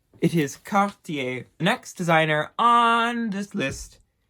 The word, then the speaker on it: Cartier: another French brand it is Cartier don't say car dear please I beg you don't say car dear it is cop da next designer on this list again French I'm